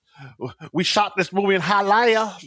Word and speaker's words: Hialeah: We shot this movie in Hialeah. Like, no, bitch, it's fucking Hialeah. It's an extra syllable.